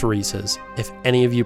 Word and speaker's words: Reese's: And it is pronounced Reese's.